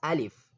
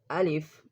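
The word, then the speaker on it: ألف: The first letter is alif. Alif is pronounced from the empty part of the mouth softly, alif, alif, but take care, save yourself from alif.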